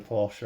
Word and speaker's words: Porsche: but yeah like say you should say it Porsche because that's the correct way to say it we just say Porsche over here but that's because we don't have any uh that's because we have a lot of um silent letters in our language that's all it is